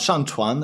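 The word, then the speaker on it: 上船: Just to be clear here, we have 上船, which is to get on the boat without the G. With the G, it's get on the bed / having sexy time.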